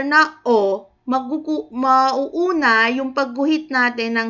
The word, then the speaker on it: ㅓ: Ngayon, habang isinusulat natin itong Korean alphabet na O, bigkasin din natin yung sound niya, which is O.